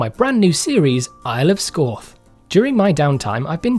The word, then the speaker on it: Scáth: So because the A in Scáth has what's called a fadder over it, which is a long accent, the A becomes an aw, turning Scáth into Scáth.